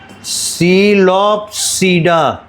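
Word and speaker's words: Psilopsida: इसे पढ़ेंगे सीपीडा पी रहेगा साइलेंट ये है लाइकोसीडा यह है स्पेनोपीडा और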